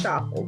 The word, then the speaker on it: chaffle: making the keto chapel the keto chapel rhymes with waffle um it's really good